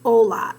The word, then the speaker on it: hola: That's the first sound you hear, but actually the spelling of hola starts with a silent H.